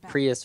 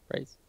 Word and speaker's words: PRIES: I always said like Prius or something like.